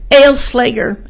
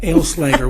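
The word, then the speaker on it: Aleslager: Ale-Slager. Ale like you drink, slay like you ride, girl like a dog. Oh, I love that. Ale-Slager.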